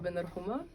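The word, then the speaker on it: Ben Rhouma: name yeah of course okay so I'm Bender Homa so could you say could you spell that for me so I don't make any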